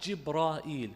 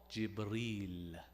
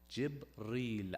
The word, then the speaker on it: Jibreel: He's not Jibra'il because it's a Hebrew origin. When the Quran came, he was then called Jibreel. Jibreel as such. So 2 syllables, not the 3.